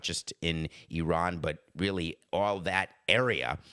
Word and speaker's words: Iran: the USA playing against Iran and I'm only saying it correctly because I learned yesterday during the press conference I've been saying I ran like Flock of Seagulls my entire life exactly